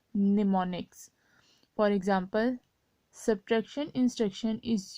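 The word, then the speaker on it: mnemonics: These symbols are called निमोनिक्स, ठीक है, am silent हो जाएगा, निमोनिक्स।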